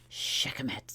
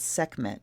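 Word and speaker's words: Sekhmet: to pronounce this because I was told by an Egyptian priest that uh he pronounced ice went to him and said segment and he didn't know who I was talking about and then I described and he said Oh Shechem it so she says segment but I will always and forever pronounce her Shechem it because of my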